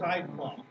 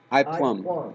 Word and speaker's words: iPlum: One is iPlum. iPlum, like the fruit, spelled like the fruit with an I in front of it.